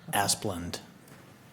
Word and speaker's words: Asplund: Now, how do you pronounce this? To consider and discuss temporary license agreement of parcel 053_166 to Asplund. Asphalt Construction LLC. Is that how you pronounce that? Yeah. Asplund. Yes. Yes.